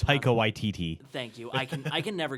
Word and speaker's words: Taika Waititi: How do I pronounce Taika Waititi.